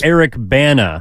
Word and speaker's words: Bana: Like the actor Eric Bana. Oh, it's not Eric Banya.